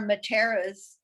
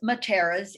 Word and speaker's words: Mattera: Um, and, my own family, there are Matteras, Black Matteras in South Africa. Oh, wow. I don't know if they are family members, but Mattera or Mattera is it's pronounced in Napoli, on the island of